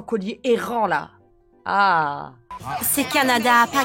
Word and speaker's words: Canada: le chien sans collier errant là ah c'est Canada pas canadiia merci Madame merci Madame non mais oh ils savent même pas prononcer un pays voisin tu vas dans